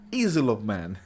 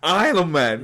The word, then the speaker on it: Isle of Man: Easel of Man. Not man is king. I said easel of Man. Isle of Man. Oh, it's Isle of Man.